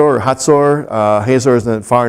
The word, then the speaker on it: Hazor: God sold them into the hand of Jabin, king of Canaan, Yabin, pronounced in Hebrew, who reigned up in Hazor or Hatzor.